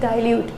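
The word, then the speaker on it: dilute: देती हूँ, ये बहुत से बच्चे इसको दिल पढ़ते हैं, दिस इज़ नॉट दिल, दिस इज़ डाइल्यूट, ठीक है। सो डाइल्यूट एसिड को आपने ऐड कर दिया। बहुत से डिल्यूट पढ़ते हैं, अलग अलग प्रोनाउंसिएशन है, लेकिन दिल तो बिल्कुल भी नहीं है, ठीक है।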